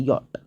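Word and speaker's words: Jot: जे का कि जो नाम होता है वो यट होता है यट अगर आप ए बी सी डी सुना रहे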